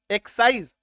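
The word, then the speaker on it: excise: का साउंड हो गया है ना ये देखो एक्सिस मैं क्या बोल रहा हूं एक्सिस उत्पाद शुल्क को बोलते हैं एक्सिस ड्यूटी लगता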